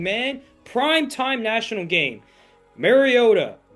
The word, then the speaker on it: Mariota: Mariota or Mariota as Chris Collinssworth said over the game. That might be the correct way to pronounce it.